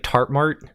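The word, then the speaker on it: tartmart: charmstat or tart mart t-a-r-t-m-a-r-t sorry my accent doesn't always pronounce t's in things i say like tart mart but it's tart mart it's a regional dialect um but please go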